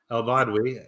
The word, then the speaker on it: Elbadwi: Charting Horse Value, and I brought back this week my most viewed guest and all-star, Sarah El-Badwi. Did I pronounce that right?